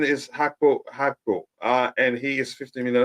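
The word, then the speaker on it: Gakpo: Again, pronunciation is Hakpo, and he is 50 million.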